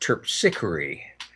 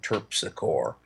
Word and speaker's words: Terpsichore: well I've read that it's supposed to be pronounced terpsichore that's the proper pronunciation but I think it is but I think in this country people call it terpsichore and but the original meaning in Greek was